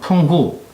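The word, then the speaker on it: 澎湖: 그리고 대만 서쪽 50km 지점에 있는 팽호제도, 중국 발음으로는 펑후, 이걸 먼저 점령해야 합니다.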